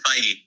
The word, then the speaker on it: Feige: Say I believe I'm going to mispronounce his name. I'm Kevin Feige. I believe it's Feige.